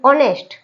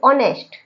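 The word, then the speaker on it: honest: चुप बैठा है और इसको अपन क्या पढ़ेंगे ऑनेस्ट क्या पढ़ेंगे ऑनेस्ट है तो एच ओ एन ई एस टी लेकिन अपन इसको क्या पढ़ेंगे ऑनेस्ट और ये ओ से अपन पढ़ना स्टार्ट कर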